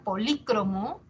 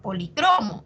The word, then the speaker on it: polícromo: Entonces, existe la palabra polícromo y existe la palabra policromo, y es la misma. Esa palabra polícromo tiene doble acentuación, ¿no? Tiene doble acentuación, polícromo, o policromo, como quieras. Significa de varios colores y tiene dos acentuaciones.